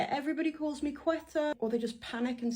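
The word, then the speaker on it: Quetta: It's a very beautiful looking mountainous place, but they do pronounce the Q as a qua.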